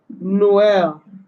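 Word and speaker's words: Noël: It's usually placed above the second of the two consecutive vowels when both vowels are to be pronounced separately. For example, Jamaica. Jamaique. Jamaica. Okay. Jamaica. Noel.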